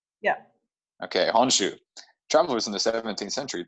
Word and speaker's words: Honshu: I'm pronouncing that right? Yeah. Okay, Honshu.